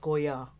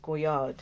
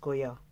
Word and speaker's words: Goyard: color it's the guy answering the phone said gorya so it's not pronounced go yard as we pronounced it's pronounced Kuya just information gain I'm gonna see if I